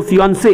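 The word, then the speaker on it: fiancée: হয়ে গেছে তাকে বলবো ফিয়ন্সে, একটা ই, আর দুটো ই হলে মেয়ে। ফিয়ন্সি, দেখো প্রোনাউন্সিয়েশনও কিন্তু আলাদা, একটা ই হলে স্পেলিং বা প্রোনাউন্সিয়েশন হবে ফিয়ন্সে, আর দুটো ই হলে হবে ফিয়ন্সি, ঠিক আছে, বা ফিয়ন্সি গেল।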